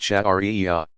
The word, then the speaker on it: Sharia: The outcome of all this study and interpretation is called Sharia, pronounced Shari'ah. The divinely revealed law or way of life prescribed for all Muslims.